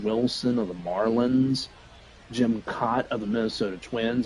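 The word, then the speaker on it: Kaat: Some and a good amount of new legends like Preston Wilson of the Marlins, Jim Cot of the Minnesota Twins. It's not pronounced cat, it's pronounced cot.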